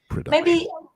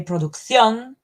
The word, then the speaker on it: production: in Spanish we say producción, putting the stress in the last syllable. So production, you said it. Yeah, you put the stress on the second one.